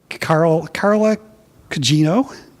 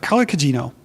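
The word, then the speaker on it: Carla Gugino: Carla Cugino. I sometimes mispronounce her name, so I wanted to make sure I got that right. Carla Cugino, who I love, who's been in so many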